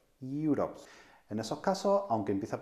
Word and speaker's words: Europe: algo especial, dado que algunas veces la pronunciación no es exactamente el de una vocal, sino el de un sonido a media entre consonante y vocal. Por ejemplo, uniform, uniform o Europe, Europe.